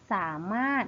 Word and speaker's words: สามารถ: อยู่ ตรง กลาง คำ เรา จะ ไม่ อ่าน ออก เสียง ตัว ร เรือ ใช่ ไหม คะ เรา จึง อ่าน ได้ ว่า ก็ สามารถ นั่น เอง ค่ะ ต่อ ไป คำ